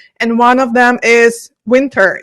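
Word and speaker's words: Wynter: one of them is Winter. Is that how you pronounce the name of the company? Winter, exactly.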